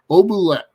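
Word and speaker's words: Oubliette: Obulet, yeah, that's how it's pronounced.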